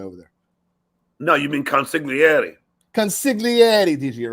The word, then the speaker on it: consigliere: No, you mean consigliere.